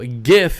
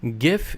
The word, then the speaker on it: GIF: bit bigger uh but the g in gif stands for graphical right so it makes the same gif sound so gif is correct yeah you're right gif is correct what's the